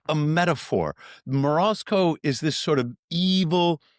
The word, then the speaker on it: Morozko: Morasco.